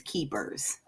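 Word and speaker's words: kephers: identify the men as keepers. And we spell it K E P H E R S like keepers.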